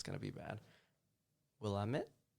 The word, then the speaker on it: Willamette: up going there it's going to be bad Willamette Willamette yeah yeah the law school right yeah that's how it's pronounced well I'm a university yeah or university